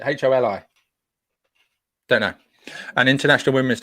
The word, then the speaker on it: Holi: quickly is that right holy holy pronounce it holi don't know an international